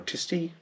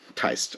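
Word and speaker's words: Tiste: The argument with Osurk is because of his connection to the Taist Leo-san, or Tisti? Taist. I think Taist is the right pronunciation.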